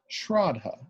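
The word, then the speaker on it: Shraddha: a Sanskrit term called Shradha Trotta sr ad DHA kind of a long a sound and that really more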